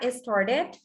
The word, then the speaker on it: started: Y en la tercera, started, aquí sí suena la palabra, bueno, la E, y suena como it, started.